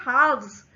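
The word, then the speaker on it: halves: लेकिन जब हम कह रहे हैं हाव्स तो एल साइलेंट हो जाता है और सीधा व का साउंड आ जाता है हा के बाद।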